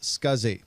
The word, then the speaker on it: SCSI: The abbreviation SCSI is pronounced SCSI, and this stands for Small Computer Systems Interface.